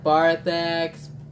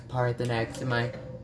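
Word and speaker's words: Paarthurnax: I called him Barthanax. And say what he's actually named. Every night I see Parthenax in my dreams stalking me. Mad at me because I keep on mispronouncing his name.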